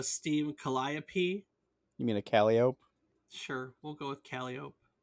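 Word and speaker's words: calliope: Greek Muse by the same name is produced kiai but the instrument was usually pronounced calop by the people who played it a 19th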